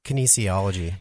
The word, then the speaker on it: kinesiology: BS and is it can how do you pronounce that? It's kinesiology.